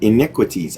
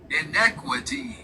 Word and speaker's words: inequities: Just make sure I'm saying that one word right. In iniquities. I think it's iniquities. Let me find out. Iniquities. No, I didn't say it right. It says I N E Q. There it is.